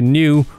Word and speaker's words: Neue: used so i'm using helvetica new or neuer if i was to try and pronounce it right set every font element